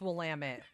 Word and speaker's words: Willamette: Is it Willamette or Willamette? I'm going to pretend like you didn't say that. It's Willamette. Damn it, Willamette. Like Volcanoe. Putting the wrong emphasis on the wrong syllable.